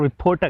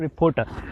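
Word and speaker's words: reporter: बोलते हैं, तो वो ज़्यादातर रिपोर्टर कहते हैं, रिपोर्टर। तो यहाँ पर एक और भी आपको बताते चलें, एक तो आर ये जो है दरमियान में टी से जो पिछला आर है ये भी साइलेंट है, और आखिर में जो ई आर है ये भी साइलेंट या श्वा की साउंड देते हैं, आ की साउंड, रिपोर्टर।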